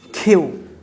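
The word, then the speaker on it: queue: Last যে শব্দটি কিউ দিয়ে আমরা অ্যাড করেছি সেটি হচ্ছে খেউ, খেউ। যদিও উচ্চারণটা একটু স্পেলিংটা অন্যরকম দেখা যাচ্ছে কিন্তু এটির প্রনাউন্সিয়েশন হবে হচ্ছে খেউ, মানে হচ্ছে সারি।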